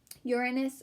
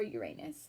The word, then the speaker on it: Uranus: could you not love a word that you can pronounce two ways and both ways make you giggle Uranus or Uranus maybe the person who